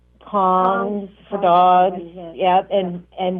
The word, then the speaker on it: Kong: say that word again kong kongs yep it's spelled k-o-n-g like king kongs oh like king kong